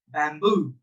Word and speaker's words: bamboo: There we have the tongue twister baboon, bamboo, baboon, bamboo, baboon, bamboo. So the word stress will be on the second syllable because it is louder.